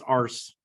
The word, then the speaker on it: Urs: Pronounce Ars.